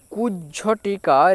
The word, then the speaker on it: কুজ্ঝটিকা: তো কুজটিকার এর উচ্চারণটা কি যুক্তবর্ণের নিয়মে এই কয় হস এর সাথে এই বর্গেরকে ছেড়ে দাও তাহলে কুজ উচ্চারণ আসবে কয় হস এর সাথে যদি বর্গের উচ্চারিত করো তাহলে কুজ উচ্চারিত আসবে তারপরে ঝহলে কুজ ঝ এতটুকু আসলো তো কুজ ঝ এরপর দেখো বাকি যে অংশটা